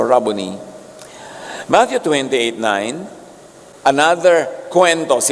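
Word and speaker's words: Rabboni: Yung mga Amerikano sasabi nila, "Rabonai." Americanized pronunciation a Hebrew word walang long eye. So rubbony Matthew 289 another kwento.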